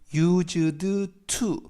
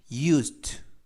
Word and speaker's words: used to: 우선 발음을 하실 때 used to 라고 발음하지 마시고요. 연음에 의해서 드와 d 발음의 드 그리고 t 발음의 트 발음이 연음이 돼서 used to가 아니라 used 라고 발음하시면 되겠습니다.